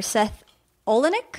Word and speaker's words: Seth Olenek: Funny Business is a coffee table book by the photographer Seth Olenek.